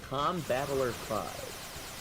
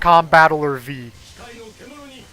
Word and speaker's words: Combattler V: Combattler 5. Yes. Well, actually, it is actually pronounced Combattler V.